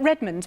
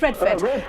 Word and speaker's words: Redford: um Father John red is it Redmond forgive me if I got your name wrong yes Redford Redford no well women like